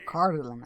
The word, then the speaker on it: Cardolan: Cardolan, oh, so that's how you say it.